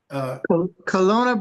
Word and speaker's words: Kelowna: How do you pronounce that, Brother Strike? Kelowna, British Columbia, Canada.